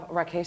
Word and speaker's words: Rakesh: So we are super thrilled to have you here, Rakesh.